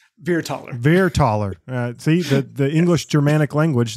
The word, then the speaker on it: Vierthaler: Vierthaler.